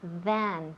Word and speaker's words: than: Pero we want than. TH. Than. Siempre digo lo mismo. And you make it very long. No? Than. Sí. Than. Exacto. Than. Muy bien. So practice more than at home. Y también la pronunciación, of course. Than, con TH.